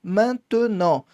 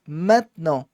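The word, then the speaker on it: maintenant: Eu tenho e no meio que não pronuncio normalmente, tá? Ah, se eu pronunciar tá errado. Pode pronunciar, vão te entender perfeitamente, né? Manton, mas o francês vai pronunciar mn.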